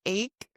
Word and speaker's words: ache: And remember with the word ache, the pronunciation is like a K sound.